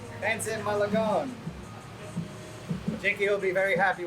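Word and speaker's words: pancit Malabon: Pansit Malabon. Pansit Malabon.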